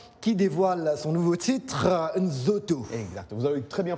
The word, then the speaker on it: Nzoto: congolais, Fally Ipupa, qui dévoile son nouveau titre, Nzoto. Exact, vous avez très bien prononcé ça, Nzoto.